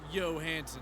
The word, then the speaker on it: Johansson: James is a longtime friend of the detective whose name I just remembered was Albert Johansson, pronounced Yo Hansen for some reason.